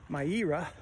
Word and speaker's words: Myeerah: But I am up at, I think it's pronounced Myeerah Nature Preserve, Myeerah.